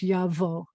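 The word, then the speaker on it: יבוא: There's a vet with an o, and then aleph at the end of a word is going to be silent. So it's yavo. Now you may say aleph is usually silent. That's kind of true, but in this case, it's totally silent.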